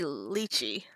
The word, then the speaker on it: lychee: Anyway, I say lychee, but I know a lot of people say lychee.